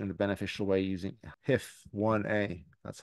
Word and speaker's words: HIF1A: oxidative stress alteration in a beneficial way using HIF1A. That's how you pronounce it.